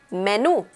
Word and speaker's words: menú: Menu is pronounced in Spanish menú. Menú. So the intonation is at the end of the word and it is pronounced menú.